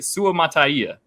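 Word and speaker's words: Suamataia: um which is yeah Kingsley Su mataya that is the correct way to pronounce his name in case anybody was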